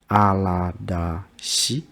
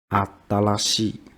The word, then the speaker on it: 新しい: one, the pronoun like aradashi. So the pronunciation is similar. It's very similar. But the correct one is the number one. Atarashi.